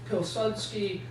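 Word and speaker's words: Piłsudski: first guy is Joseph pilsky uh when you see a an L with a slash through it in Polish it's pronounced more like a w okay uh psky is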